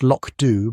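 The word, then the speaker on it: Lochdubh: He had long ago discovered that a quiet life in Lochdu, pronounced Lochdu by those who knew better than to anglicise everything, was infinitely preferable to the noise and ambition of promotion.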